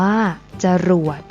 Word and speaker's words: จรวด: นํา อักษร ต่ำ เดียว เสียง ของ พยางค์ ที่ สอง จะ เปลี่ยน ไป ตาม อักษร ที่ เป็น ตัว นำ เช่น ตลก อ่าน ว่า ตลก จรวด อ่าน ว่า จรวด อร่อย อ่าน ว่า อร่อย เช่น เดียว กัน นะ